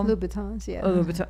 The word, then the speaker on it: Louboutin: Louboutin.